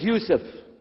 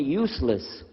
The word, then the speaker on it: Yusuf: work on it inah my name is Yousef did you say Yousef said Yousef you're very good I wish you teach my wife she keeps mispronouncing it she calls me useless alhamdulillah now how many